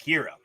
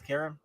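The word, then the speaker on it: Kreia: looks ever what about dark Kira that would be pretty cool or Cara it's Cara I forgot how pronouncing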